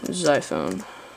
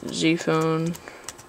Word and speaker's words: Ziphone: So first, you're going to want to go to Google and type in Zyphone. Or Z-phone, doesn't really matter, it's spelled Z-I-P-H-O-N-E. Click enter, and you're gonna click on the first one, it says Zyphone's blog.